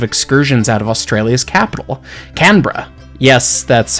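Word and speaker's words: Canberra: Today's adventure was a set of excursions out of Australia's capital, Canra. Yes, that's how it's pronounced.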